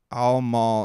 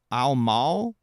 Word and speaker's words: Al Mal: Uh, Al Maul is not pronounced Maul. That's the homie. I'll be there. How is it pronounced then? Mal Mau like Malware. Al Mal, not Maul.